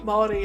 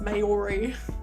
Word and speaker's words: Māori: I think some people think Māori is pronounced Maori, people that aren't from New Zealand, but yeah.